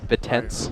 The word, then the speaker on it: Bittens: Bittens.